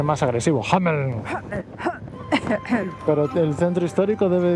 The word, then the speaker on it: Hameln: Hamelin, en alemán se escribe sin la I. Hameln. Hameln, Hameln. ya seguro que se pronuncia más agresivo. Hameln.